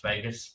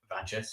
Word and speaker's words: Vagus: It was based on my gamer tag, which is Vegas, pronounced Vegas. A lot of Americans call it Vagus. It's Vegas.